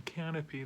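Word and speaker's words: Kanopy: Now, you can watch this on Canopy, that's spelled with a K.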